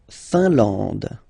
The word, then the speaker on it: Finlande: La Finlande. IN here, nasal, un. AN, nasal, en. And then D, final not pronounced.